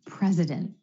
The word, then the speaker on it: president: not a student anymore another example president the president of the United States again that t is held after the n in the NT cluster so to recap held